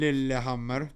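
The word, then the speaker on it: Lillehammer: Lilammer. That's how you pronounce it. We love it. Cuz that's Norway, right? Lil Hammer.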